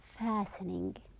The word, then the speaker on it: fastening: seat belt or uh we are calling it fastening the tea is silent what can happen if